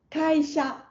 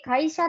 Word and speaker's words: 会社: 会社あってますフラットでもいいし会社ってちょっとちょっとだけ上がってもいいので先にこう会社っていう風にこう先にアクセントがあるのは避けてください